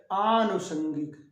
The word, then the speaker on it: आनुषंगिक: आ की मात्रा यहाँ नहीं लगाई गई है, तो यहाँ अनुषंगिक के बजाय आनुषंगिक, अनुषंगिक के बजाय क्या लिखेंगे? आनुषंगिक, आनुषंगिक। क्या लिखेंगे? आनुषंगिक। याद रखेंगे, आनुषंगिक लिखना है।